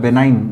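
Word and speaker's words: benign: बेनाइन, जी silent रहेगा, आपको पता है।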